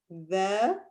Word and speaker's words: ذلك: So look how you pronounce it. ذلك.